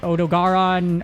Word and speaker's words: Odogaron: guide for odog Garin odogaron odogaron there's like multiple way to pronunciate it I say Odo Garin just because that's how most of my friends say it and this contains all